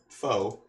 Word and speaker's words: pho: Yeah, you guys familiar with this pho stuff? Let's see. I can pull up a picture for you. Some people call it pho, but I'm pretty sure the proper pronunciation is pho, P-H-O.